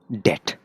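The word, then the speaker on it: debt: कर सा यानि की डेट इसमें बी है उस साइलेंट ब्रिटिश में कैसे पाओगे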